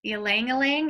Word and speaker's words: ylang ylang: always say this wrong but i'm gonna say ylang ylang did i say it right no that's right